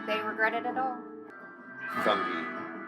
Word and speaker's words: fungi: regret it at all fungi fungi yeah that's the correct way to say that word I know I know